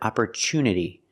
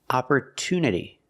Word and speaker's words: opportunity: my creativity that's right we don't pronounce it opportunity the TU is not pronounced with the CH sound it's pronounced with a t sound opport to opportunity there are a lot